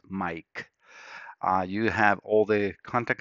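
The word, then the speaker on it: Maic: And this is the way my name is spelled, M-A-I-C. It sounds as Mike.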